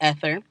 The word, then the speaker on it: Aether: We know it's called ether, Aether, just in case I'm saying that wrong. There's a running joke in my family that I just destroy the pronunciation of words. Like, words don't like me, I don't like them, and we fight about it because I say things wrong. Me and the English language have beef, apparently. I don't know. Why are their words built like that? But it's pronounced ether.